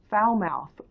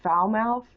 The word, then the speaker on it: Falmouth: care at the Falmouth foul-mouthed Walmart so there's a place in Maine called foul mouth it's spelled FAL MOU th like FA ll but it's pronounced foul as in you know not good foul mouth so we